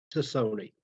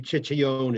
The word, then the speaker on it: Cicone: Well, Phil, it would be Ciccione if you wanted to go to the old country.